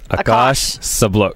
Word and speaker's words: Akash Sablok: Akash Sablok. Boy, you got so many pronunciations of your name. I get it wrong each time. Akash Sablok. It's Akash Sablok.